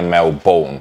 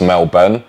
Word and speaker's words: Melbourne: wrong because I say Melbourne which is apparently the Posh way and there's nothing Posh about me it's Mel Ben so you kind of dropped the O I just think they're